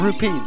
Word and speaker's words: rupees: let go steal some rubies from this douches house Ste all his rubies rupes oh rupees not rubies rupes yeah they're pronounced rupes not rubies cuz